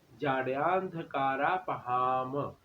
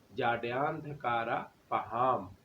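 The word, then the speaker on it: जाड्यान्धकारापहाम्: जब भी किसी शब्द के नीचे किसी अक्षर के नीचे हलंत लगा हो तो उसका उच्चारण हमने, मान लीजिए वो आधा हो जाता है, ठीक है।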